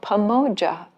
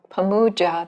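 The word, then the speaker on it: pāmojja: particular kind of delight called pamoja or pamuja. It's the same, actually, identical word with two different pronunciations, at least according to Polytext Society.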